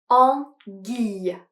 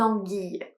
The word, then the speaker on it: anguille: Attention à la prononciation "anguille" avec le son « i ». Une anguille.